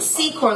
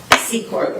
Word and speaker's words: Secor: i'm pronouncing it right it's a c so it's like c chord like s-e-e and then chord that's how you would see okay c chord again no it's important